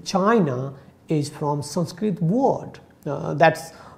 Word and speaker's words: Qin: to say that even if you say that chin one like in chinese it's written as q i n that is the chin dynasty but when we write